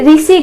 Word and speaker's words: ऋषि: हिंदी में उड़िया की तरह रू का उच्चारण रू नहीं किया जाता है, वह री उच्चारण होती है। जैसे कि हम उड़िया में ऋषि कहते हैं, उसे हिंदी में ऋषि नहीं ऋषि कहा जाता है।